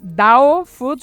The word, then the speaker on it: Dao Foods: So first of all, just to make sure that I pronounce it right, is it Dao Foods or do you pronounce it differently?